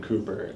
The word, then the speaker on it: Cowper: and what's his name William Cooper but spelled like Cowper like c o w p e r right he I find